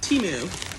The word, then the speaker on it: Temu: means cheap fun stuff temu see and that's actually pronounced how it's spelled which is nice so